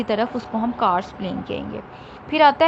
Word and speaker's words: karst: अब इसकी भी आगे से फर्दर 3 टाइप्स हैं आपके पास: कैरस्ट planes, ओलियन plains and glacier planes. कार्स्ट plane, sorry मैंने गलत प्रोनाउंस कर दिया उसको, दिस इज कार्स्ट प्लेन।